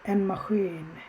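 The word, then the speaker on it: en maskin: সো মাখিন আমরা কীভাবে উচ্চারণ করি? এন মাখিন, একটু টান থাকে। যেমন আমরা এন মাখিন বলি না, মানে ওর মধ্যে টান নাই, আমরা বলি এন মাখিন।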